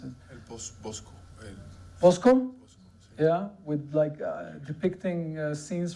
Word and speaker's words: Bosch: It's like a Hieronymus Bosch painting, this Hieronymus Bosch. I think it's how you pronounce it. Bosco.